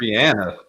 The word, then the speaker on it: Rihanna: And she Wait, Rihanna's not how you pronounce her name? It's Rihanna.